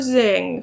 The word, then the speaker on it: Zing: He meets Emperor Zing, who is on a shopping spree. He finds out that Zing's name rhymes with ding dong, because that's what he is.